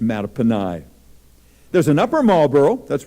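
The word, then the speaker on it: Mattaponi: rainier m-a-t-t-a-p-o-n looks like matapony oh i wish it were that's a great name a matapony actually it's a native american name pronounced matapani there's an upper marlboro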